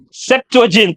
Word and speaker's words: Septuagint: septugan septuagint septuagint hindi ko alam kung anong pronunciation non e. Septuagint sabi ni PJ.